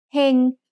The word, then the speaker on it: เฮง: เฮง has a low-class consonant with a live syllable ending, so it's mid-tone.